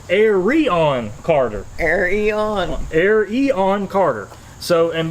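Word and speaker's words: Arion Carter: I would look at that like oh that's Aaron Carter well that's not how you say his name it's Aron Carter Aron Aon Carter so and by the way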